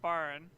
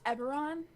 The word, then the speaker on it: Eberron: that come from all that this isn't in barn is it it is this isn't barn it's pronounced eberron it is not pronounced no no no no